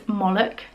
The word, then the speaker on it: Moloch: this one is anyway this is Maalik I think it's pronounced Moloch M o LH and yeah he is